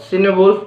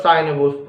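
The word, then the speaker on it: Cynewulf: Then Christ, Elene, Juliana, and the Fates of the Apostles are important works of Cinewolf or Cinewolf. These both the pronunciations are used for this writer.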